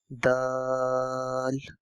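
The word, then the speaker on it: د: So moving to the next one, this is Dal, Dal, Dal. It's a D sound.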